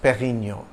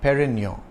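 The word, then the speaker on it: Dom Pérignon: pioneer of superior champagne it's a soft D in Dom and you don't enunciate the N at the end of Perino you pronounce the preceding o nasali Perino if you have difficulty saying the French are you can simply pronounce it the English way perennial but note the acute Accent on the E that means you stress the first syllable was a seller Master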